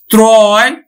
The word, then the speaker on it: ত্রয়: অন্তস্থ অ আছে, তাহলে কিন্তু আমার উচ্চারণ কিন্তু ক্রয়, ক্রয়ে উচ্চারিত হবে। ত্রয়, ত্রয়ের মতোই উচ্চারিত হবে।